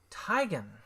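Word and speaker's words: Teigen: Christian two-bit Christy Teegan says that we're pronouncing her name wrong all hmm it's actually tigon hmm she said it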